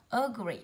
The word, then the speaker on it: agree: Agree, âm đầu tiên là ơ, không rơi vào ơ, nó rơi vào agree, âm tiết thứ hai, y dài.